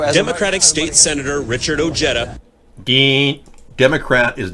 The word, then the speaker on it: Ojeda: It is a soft J. Anyone pronouncing it J as in Ojeda is actually denying their Hispanic past.